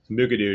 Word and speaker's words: Mukurtu: Mukurtu, just kind of slur it out there. So Mukurtu is the reason we're here today.